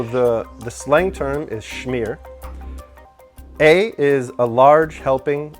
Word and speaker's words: shmear: I when you said that it sounds like the word smear and I also thought that it sounded a little bit Hebrew with the shh sound.